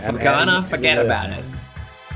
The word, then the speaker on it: Felgana: Oh no, I lost how to pronounce it. Felgana. Thank you. Yeah. Yeah, right, Felgana.